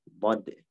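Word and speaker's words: ض: sudah dinamakan sebagai huruf dad dan menghasilkan bunyi huruf dad. Dan ingat, dad dalam transliterasi emang DHA ya, DHAD ya. Tapi jangan diucapkan dat ya, wala dalin ya.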